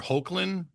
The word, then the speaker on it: Hoechlin: So Road to Perdition, also I believe Tyler Hoechlin is the proper pronunciation.